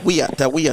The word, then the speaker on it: Weah: Weah, them call him Weah, George Weah.